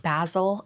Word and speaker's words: Basil: The ever dedicated manager, I think Basil, it's spelled Basil, but you know, like in Austin Powers, like Basil, I think it's Basil. Basil decides to step in and ask a few employees to stay overnight.